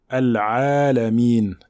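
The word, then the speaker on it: العالمين: Donc la lettre ayn passe par la gorge, c'est une lettre qui passe par la gorge.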